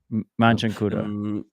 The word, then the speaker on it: Machankura: So what, like people just on the street when they say let me get paid, they say, how do I pronounce it? Machangura. Machankura.